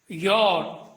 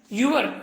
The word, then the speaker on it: your: ഇനി മറ്റൊരു കാര്യം പറയാം യോർ എന്ന വാക്കിന്റെ ഉച്ചാരണം യുവർ എന്നല്ല എന്ന് വളരെ കൃത്യമായി മനസ്സിലാക്കുക ശരിയായ ഉച്ചാരണം ഒന്ന് കേൾക്കുകയ യോ ഇനി ഫോഫോംസ് എന്ന പട്ടികയിലെ